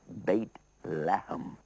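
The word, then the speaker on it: بيت لحم: And it's called Beit Lahem. Beit in Arabic means house, and Lahem means meat, house of meat, Beit Lahem. And it was pronounced Bethlehem. This is how they pronounce it in the Hebrew.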